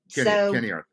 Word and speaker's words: Ceniarth: Kenny, for the record, it's it's Kenny Arth, which is a a Welsh which is a Welsh word, I would guess. Yeah. Kenny Arth.